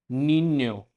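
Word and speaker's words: niño: इसकी साउंड रहती है जो कैनियन के अंदर एन वाई की साउंड रहती है, तो कैनियन, न्य, न्य की साउंड। तो फर्स्ट वर्ड है नीन्यो, नीन्यो मतलब चाइल्ड।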